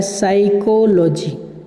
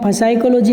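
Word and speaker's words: psychology: इज़ एन आर्ट एक कला है, ऑफ साइकोलॉजी, साइकोलॉजी में आपको पी साइलेंट रहता है, पढ़ा यहाँ से जाता है साइकोलॉजी। देखो आप यहाँ से जो साइकोलॉजी की स्पेलिंग आपको दिख रही है तो इसमें जो लिखा तो जाता है लेकिन पी बोला नहीं जाता।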